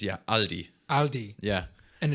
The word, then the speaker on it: Aldi: like Aldi Aldi but how do you pronounce it it's all it's actually closer to what we say Aldi what everyone says yeah Aldi Aldi yeah and it's